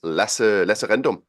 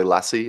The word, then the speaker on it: Lasse: be here so uh my name is LOM that's how you say it in Danish so people could know that I always say it's okay to to say Lassie everyone knows that that's dog um I am the